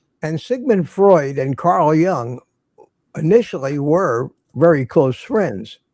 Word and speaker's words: Jung: So, but this Carl Jung is spelled Jung. If you've ever seen it, Carl not Young, but like J, Jung, like the Asian version.